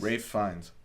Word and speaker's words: Fiennes: You know, it turns out we're mispronouncing his name. What is it? It's like Rafe Fiennes. Rafe Fiennes? Rafe Fiennes.